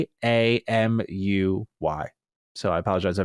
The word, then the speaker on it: Kamuy: says, quote, after leaving Tango Gameworks, he established Kamui, Kamuy. So I apologize, I mispronounced that.